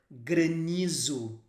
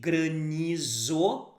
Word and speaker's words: granizo: pronunciation of this word grenizu even though if you would really read it you would say granizo but we say good